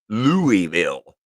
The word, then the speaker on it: Louisville: about an hour South lville Louisville for the UN for Out of Towners yeah that's how they say it's l Lille l l and our South Lille Lambert